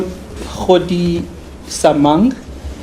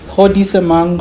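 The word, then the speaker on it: Godisamang: I call Hodi Samang. Hodi Samang. Spell it.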